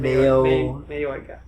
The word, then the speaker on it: Mayoiga: Mayoiga. Yeah, okay, yeah. Because the O and the I kind of blend together, so it's like Yoi.